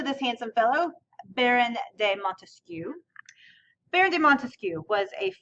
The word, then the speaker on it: Montesquieu: so his name okay his name has three syllables right Montesquieu so the way that